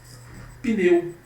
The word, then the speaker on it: pneu: Eu não falo pneu, é pneu. Como o P é mudo, certo?